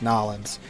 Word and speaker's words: New Orleans: Or if you're close enough to New Orleans, it's Nolans. The rest of the state, New Orleans.